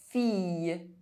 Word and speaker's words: fille: I double L is pronounced I, fille, grille.